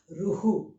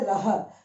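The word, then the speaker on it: रुः: This two dots is Ruhu. Okay. You won't say Raha because Aha is there.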